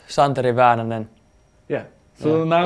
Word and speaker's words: Santeri Väänänen: you pronounce your name yeah it's uh it's pronounced chantre Evan and then yeah so now you guys are